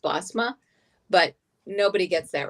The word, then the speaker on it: Bosma: Bozma. Um You're okay with Bozma? Say that like that because I'm actually Dutch and it's really supposed to be pronounced Bosma.